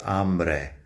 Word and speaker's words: hambre: el or un with hambre. Like I said, I hate this rule. The rule is because hambre has the a at the beginning, which is the strong syllable.